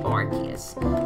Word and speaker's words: Arceus: I'm just gonna look up what Arceus is, or Arceus, however you wanna pronounce it. I say Arceus.